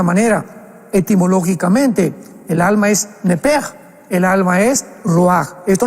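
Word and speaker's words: נֶפֶשׁ: Pero la palabra hebrea es muy importante porque es la palabra nepesh con sh al final. Nep. En el hebreo se pronuncia eh la sh con j. Entonces la pronunciación hebrea es nepej.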